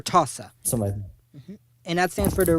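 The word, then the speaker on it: RTASA: go to our tas i believe that's pronounced r-t-a-s-a or tosa and that stands for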